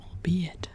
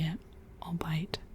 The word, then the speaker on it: albeit: Um, and it's so weird to pronounce it like that because in German, um, ei is pronounced I. So to me it would be a all bite and I was always super confused.